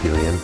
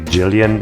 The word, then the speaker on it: Gillian: No, oh, I guess maybe it's supposed to be Jillian and not Gillian. So he said he pronounced it Jill, and so we got confused.